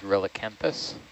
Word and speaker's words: Relicanthus: the genus name is relicanthus sorry uh so as in relic r-e-l-i-c anthis a-n-t-h-u-s all right and there